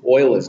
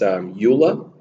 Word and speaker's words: Euler: it's actually a known number so e is euler's number okay and to make sure you pronounce his name correctly is arguably the greatest